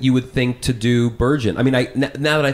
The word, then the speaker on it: Bergen: somebody calls you Erich Bergen? That one is always laughable to me. I always think that's funny because I was like, when have you ever put a soft G there?